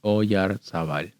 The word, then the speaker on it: Oyarzabal: It's just Oyarzabal. I don't know why.